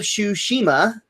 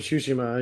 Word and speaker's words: Tsushima: Ghost of Tsushima. Ghost of Tsushima. Yeah, there you go. That's pretty close. I'm getting better. You're pausing too much in the middle of the word.